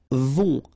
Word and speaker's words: vont: Then, ils vont. Final T not pronounced, and then O and together, on vont, okay?